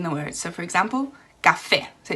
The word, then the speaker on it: café: For example, the word coffee, where we have the stress in the coffee, they say the word café. Now, why is the stress at the end? Because they have an accent on the E.